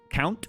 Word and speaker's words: Conte: Uh, Conte count. You just say it like count, but it's just spelled different. Conte.